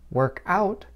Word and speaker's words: workout: Americans often stress the first part of a phrasal noun.